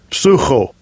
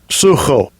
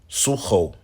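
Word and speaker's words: ψύχω: Sucho. Sucho. Suho. But it looks like the word psycho.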